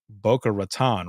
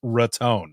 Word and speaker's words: Boca Raton: And I said, "It's not Boca Raton, right?" And he goes, "Don't you ever say that again." He's like, "It's Raton." I was like, "Okay."